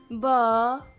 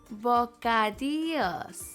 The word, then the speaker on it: bocadillos: If you see two L's together, it's pronounced like a Y. Bocadillos. Bocadillos.